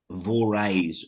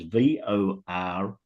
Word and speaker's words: Vores: It's Horsham, race 1, number 9, Vores or Vors, depends on how you want to pronounce it. It's Vores.